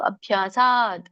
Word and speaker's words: ಅಭ್ಯಾಸ: ಕೂಡ ಒಂದೇ ಪದ ಇರುವಂತದ್ದು ಅಭ್ಯಾಸ ಅಭ್ಯ ಮಹಾಪ್ರಾಣಗಳನ್ನು ಒತ್ತಿ ಹೇಳಿ ಅಭ್ಯ ದೊಡ್ಡ ಭಿ ದ ವ್ಯಂಜನ ಇದೆ ಅಭ್ಯಾಸದ್ರಮತೆ ದ ಕ್ಕೆ ರ